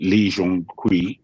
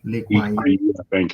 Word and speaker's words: Lee Kuan Yew: leader they had in Lee Jong Kui. I think I've mispronounced his name. Lee Kuan Yew.